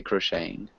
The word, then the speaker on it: crocheting: um so we'd say crocheting so the T is silent suppose um and Rebecca